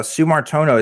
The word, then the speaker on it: Sumartono: wrong from Indonesia uh sumartono is that how you say your name yeah that is exactly how my name is pronounced hell yes I got